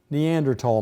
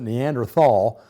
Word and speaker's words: Neanderthal: uh said to be Neanderthal man now the spelling of it used to have an h and we all pronounce it Neanderthal but recent years that